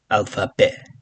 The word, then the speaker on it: alphabet: Uh otherwise you can just say alphabet. Okay. T is silent otherwise it's the same alphabet.